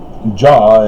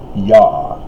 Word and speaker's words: Yah: Pictorially the same, and I would dare say phonetically the same from Paleo-Hebrew, because Jah is the European corruption of the Semitic Hebrew, Yah.